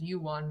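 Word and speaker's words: Ewan: his name to be pronounced the right way the right western way which is you won mcgregor i don't know if he actually knows that his name is pronounced e1 in korea i don't know if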